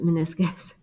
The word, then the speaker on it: meniscus: you spell it but but that's how you pronounce it meniscus okay too early in the morning to be